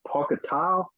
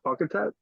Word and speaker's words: Pauketat: I've heard people correct me and say Pocketal, but I've heard him call himself Pocketat, so I'm going to go with what he calls himself.